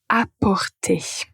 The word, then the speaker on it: apporter: Alors la paire suivante c'est apporter et emporter. La première n'a pas de nasal apporter. Et la le deuxième verbe c'est emporter.